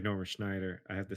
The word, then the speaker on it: Snyder: Zack Snyder's I do too.